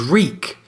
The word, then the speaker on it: Reek: remember his name reek my name is reek it rhymes with weak and we see this